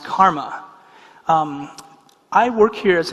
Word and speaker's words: CCRMA: in music and Acoustics that's spelled ccrma and it's pronounced Karma um I work here